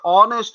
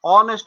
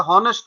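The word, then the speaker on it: honest: কিন্তু আমরা যখন এটা উচ্চারণ করবে এই শব্দটি, এটার নাম হচ্ছে অনেস্ট ম্যান, অ এর মতো উচ্চারণ হয়েছে অনেস্ট ম্যান, এটা হনেস্ট নয়, এটা হবে অনেস্ট ম্যান।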